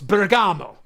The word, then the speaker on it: Bergamo: And whenever I say Bergamo, it's after an Italian city, so it's Bergamo.